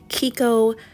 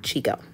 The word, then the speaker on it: Chicco: then also I noticed I've been saying it wrong it's called Kiko not Chico any who it also